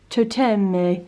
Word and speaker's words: Toteme: Toteme. Yes, it's very Toteme. I feel like that's a bit Italian, but it's a French word or name.